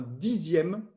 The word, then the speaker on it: dixième: Mais on écrit une dizaine avec un Z et un dixième qu'on écrit X mais qu'on prononce Z.